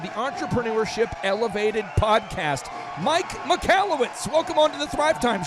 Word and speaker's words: Michalowicz: Yeah, so it's pronounced Michalowicz, but if you're an old high school friend of mine, it's Michalowicz. that was my nickname in high school.